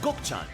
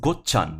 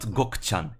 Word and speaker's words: Gokchan: Kamito, Yakuma Beni, and Gokchan. And yes, that's another Apparently it's pronounced Gokchan, not Gokchan. It's Gokchan.